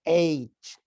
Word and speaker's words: H: some of these letters some people say itch instead of saying age so there is big difference between the the both ways of pronouncing so we need to